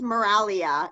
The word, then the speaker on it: Miraglia: that correctly she is the g is silent but here in the